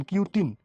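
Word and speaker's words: cutin: কিউটিন, এটার উচ্চারণ কিন্তু কিউটিন, কিউট, কুটুকুটু, কিউটিন।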